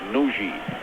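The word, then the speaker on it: Nagy: back to the captain spelled n a g y but pronounced Nui this is Carl Valentine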